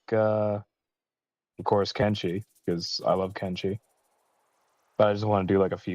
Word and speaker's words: Kenshi: put he or kimchi like Ken doll and then she as in girl can she but you say it really fast so it goes together all right no that's kimchi